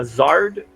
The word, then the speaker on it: Zard: Actually, I created one called the How do you Zard pronounce token. that? A Zard token?